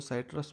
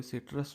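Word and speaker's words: Sytrus: सबके अपने अपने प्रोनाउंसिएशन है इसके लिए, कोई इसको साइट्रस बोलता है, कोई सिट्रस बोलता है, ठीक है, कोई नहीं।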